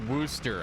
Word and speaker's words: Worcester: working horse faster stuff it's pronounced wooster i've heard that too